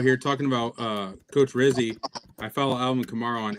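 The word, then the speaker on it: Rizzi: talking about uh coach Rizzy I follow Alvin Kamar on X nine hours ago he tweeted my vote for head coach rhymes with fizzy um so that says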